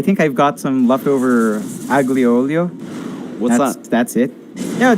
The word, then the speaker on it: aglio olio: Aglio olio? I don't know. Isn't it a silent G? I don't know. I speak Italian. No idea what you're saying. I have absolutely Aglio olio.